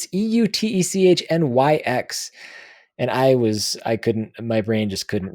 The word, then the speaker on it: Eutechnyx: Oh, Eutechnyx. Eutechnyx. Let me just steal that thunder from you. Yeah. Yeah, Eutechnyx Limited. It's EUTECHNYX.